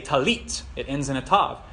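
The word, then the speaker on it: טלית: prayer shawl at elite in Israel they say tallit it ends in a tough but if you go to an Ashkenazi synagogue they would say tallis talis so we're learning Israeli Biblical Hebrew so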